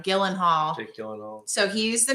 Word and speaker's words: Gyllenhaal: I always say his name wrong. Gyllenhaal.